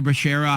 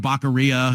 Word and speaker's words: Becerra: It was the funniest thing in the world, and he was calling Javier Becerra Javier Baccaria. It was a whole to-do.